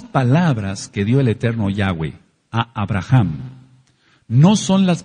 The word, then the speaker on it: Yahweh: y ya vimos porque el nombre correcto es yahw Ahora hay mucha controversia